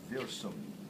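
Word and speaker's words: Wirsung: after its discover guy by the name of verum w i r s u n g so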